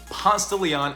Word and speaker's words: Ponce de Leon: When pronouncing Ponce de Leon Avenue, forget everything you learned in Spanish class. It's known here as Ponce de Leon, or simply called Ponce.